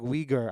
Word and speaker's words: Uyghur: Wigger. Wigger. Okay. Okay, cool. We're good. But I meant it like Uyghur.